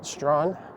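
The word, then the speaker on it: Strachan: some of the names strawn s-t-r-a-c-h-a-n is one of the hardest is it a n or e-n it's one of the two but either way it's pronounced strawn there's also rotsusvilles or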